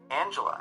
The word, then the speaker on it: Angela: Angela as an English name may be properly articulated with a G, articulated like a J as in jello. Yet, in German, the G is hard, so the letter in her name is really articulated like the G in edge.